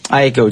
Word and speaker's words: Aiko: is Jana and the last name is IO Aiko Jan AO yeah and the name of the